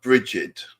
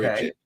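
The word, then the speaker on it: Brigid: I call her Bridget. Okay. Bridget.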